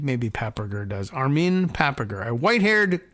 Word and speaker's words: Papperger: The plan to kill Armin Papperger, P-A-P-P-E-R-G-E-R, Papperger, and I don't know, that doesn't even sound like a particularly German name. Maybe Papperger does.